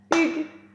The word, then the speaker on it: Hugues: Hugues, une seule syllabe si on prononce correctement.